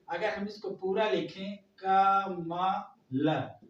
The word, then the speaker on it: कमल: अगर हम इसको जोड़े, अब बताइए अगर हम इसको पूरा लिखें का मा ल, तो बताइए हमारा कमल हुआ कि नहीं हुआ?